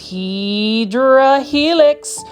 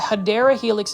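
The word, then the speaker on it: Hedera helix: As you can see, this is the first Hedra Helix or the Hideera Helix is the correct way to say it.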